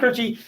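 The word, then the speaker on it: Koertge: is by ron kirchy he says how to pronounce his name ron kerchy pronounced uh wrote a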